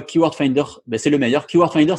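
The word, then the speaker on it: KWFinder: Keyword Finder, ça s'écrit KW Finder.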